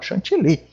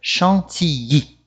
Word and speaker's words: chantilly: Eu mesmo, quando eu estou fazendo uma receita, estou em casa, falo chantilly. Né? Mas em francês, o LL tem o som do I. Então, a pronúncia correta aqui em francês é chantilly.